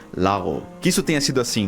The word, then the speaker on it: lago: G na língua espanhola, onde você não diz lago com esse G forte, mas sim lago.